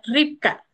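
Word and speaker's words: רבקה: del nombre de Rebeca Rebeca en hebreo se pronuncia ripca que significa atrapar o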